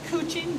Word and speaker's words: couching: it to not exactly it's called Kuching but it's spelled couching and I call up